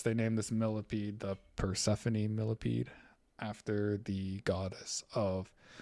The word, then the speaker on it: Persephone: even look like the the way it's spelled doesn't look like persephone at all looks like percep phone or something i think that name